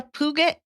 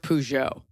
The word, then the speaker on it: Peugeot: I mean, 2015 there's like a Puget.